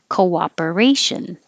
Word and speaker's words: cooperation: um this one of the two o's here you have the first one co and your lips get small and then they come back so it makes a koa cooperation cooperation thanks for your